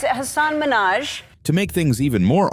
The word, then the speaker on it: Hasan Minhaj: Next up is Hasan Minhaj.